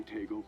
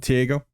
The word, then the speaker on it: Taego: only one too that's always called TGO I think I did actually already in this video here uh but I guess it's pronounced Teo interesting too is actually